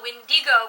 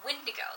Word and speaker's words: Wendigo: come near you I've never heard it called a windy go before it's a Windigo that's always what I grew up hearing I have son flicked